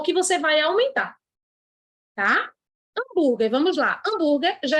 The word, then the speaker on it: hambúrguer: E eu tenho outro dígrafo, GU, porque ninguém fala hambúrguer, buê, é hambúrguer. O U é mudo, ou seja, menos 1 de novo.